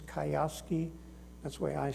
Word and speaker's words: Kiyosaki: That's Robert, I don't know how to pronounce his name. It's Kiyosaki.